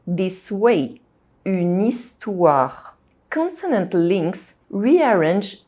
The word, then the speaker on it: histoire: H is silent in French, so the word histoire begins with a vowel sound, I. So, if these two words are together, they are pronounced this way, une histoire.